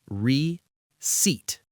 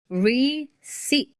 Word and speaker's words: receipt: Many students struggle with this one because the P is silent. It is not pronounced receipt. The correct way is receipt. Everyone listening, try it with us. Listen carefully. Receat.